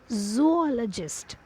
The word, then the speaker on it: zoologist: pronounced as o sound here also we have exception that is zoologist zoologist zoologist it is o sound only not the one i hope the concept